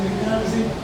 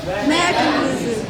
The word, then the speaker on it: mechanism: See, when you say mechanism, where is the stress? Ka. Isn't it? Yeah, that's strong. So it's supposed to be on the first syllable. So how do you pronounce it correctly? Say? Mechanism.